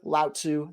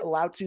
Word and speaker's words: Lao Tzu: Today, I'm going over it with the newly dubbed Sir Lao Tzu the Builder. Let's get to it. All right, today I am joined by Sir Lao Tzu the Builder.